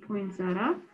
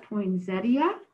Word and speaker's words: poinsettia: the center of my poinsettia. Now, I was reading that some people call it poinsettia, and some of us call it poinsettia, and I think that both ways to pronounce it are just fine.